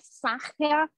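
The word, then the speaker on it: Sacher: S-A-C-H-E-R, escreve-se, Saja, pronuncia-se, e a letra S,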